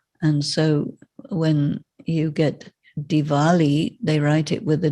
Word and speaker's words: Diwali: as a v and so when you get diwali they write it with a w this is because the transliteration came from germany but you have to pronounce it not diwali but diwali that's why there's a w because of german